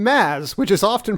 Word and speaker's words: Mads: for the cor correct pronunciation of the name Maz which is often pronounced as mads but I know from Mr Mickelson that the